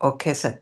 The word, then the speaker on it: okesa: Japanese term for the full Buddhist row is quesa or okesa. Did I pronounce it correctly?